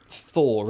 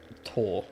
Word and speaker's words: Thor: But I imagine, because it's not Thor, is it? Because you, in Norway, you don't... TH, it's Tor, or Clo...